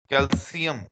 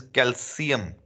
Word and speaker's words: calcium: Calcium. Now, boys, please let me tell you. The pronunciation is calcium. Now, we Pakistanis, we pronounce it calcium. That is wrong, okay?